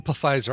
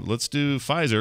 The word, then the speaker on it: Pfizer: Pfizer, the Pfizer. Oh, that's right. Yeah, I remember we talked about that. Carter pronounces it Pfizer. Yeah, a little German in my veins.